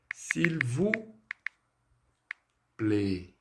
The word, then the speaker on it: s'il vous plaît: Esse S apóstrofo, muitas vezes o aluno ele quer falar o som do S primeiro, sem ligar com a próxima palavra e coisa e tal.